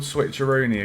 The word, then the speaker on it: switcheroony: We'll do the old switcheroony again. Are you ready for the switcheroony? Aye. Switcheroony. Rhymes with George Clooney.